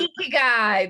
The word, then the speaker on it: ikigai: I've seen it, but I don't know how to pronounce it. The because it has the circles in the middle part. The It's Ikigai.